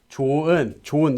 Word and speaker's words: 좋은: Due to sound change rules, it becomes pronounced as 좋은.